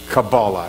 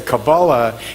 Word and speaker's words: Kabbalah: And it is a development of Christian Kabbalah. And I'll say Kabbalah is the Ashkenazic pronunciation, and Kabbalah is a Sephardic pronunciation.